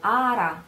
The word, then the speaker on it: ara: You can hear it's a little different, the R of cader, which is more audible, while ara, ara, between the two vowels, it's pretty difficult, so try it.